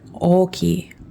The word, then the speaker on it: ochi: I guess the accent is going to be the stronger part that you pronounce is going to be towards the beginning.